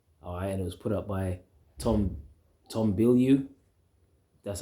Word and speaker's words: Bilyeu: All right, and it was put up by Tom Bilyeu. That's how you pronounce his name.